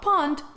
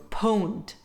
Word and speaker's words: pwned: It's the word pwned, not pond, pwned. Pwnd derives from owned, hence the pronunciation, and it's used to express the fact that a player has totally dominated another player.